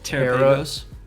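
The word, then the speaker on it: Terapagos: It's Terrapagos. Terrapagos. It's Galapagos with Terra.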